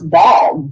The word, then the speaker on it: Baal: But you are talking about basically the demon that some people would pronounce Baal, Baal. Is that correct? It is. Yes, it's spelled out Baal.